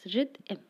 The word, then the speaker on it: rhythm: Because, for example, you can see rhythm does not contain any vowel, but it is said with two vowel sounds, rhythm. So it has two syllables.